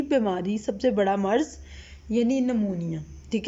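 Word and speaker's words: pneumonia: इसको पढ़ते इतना है, पी से लिखते हैं, ठीक है, लेकिन पढ़ते हम इसको एन से हैं, ठीक है। एन से स्टार्ट करते हैं बट लिखते हम पी से। इसमें पी हमारे पास साइलेंट है, ठीक है।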